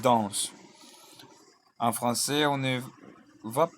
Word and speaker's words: dansent: On ne va pas prononcer le ENT. Ce n'est pas ils dansent. Non, non, non, non, non, non, non, c'est ils dansent.